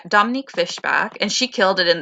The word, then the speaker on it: Fishback: i think fishback or fishburn she related laurence fishberg no no no i'm getting her last name wrong dominique fishbach yeah dominique fishbach and she killed it